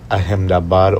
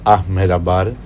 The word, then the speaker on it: Ahmedabad: So we have arrived in Ahmedabad or Ahmedabad, right? I noticed that it is pronounced both ways. I thought I was pronouncing it wrong at times, but it's both the same.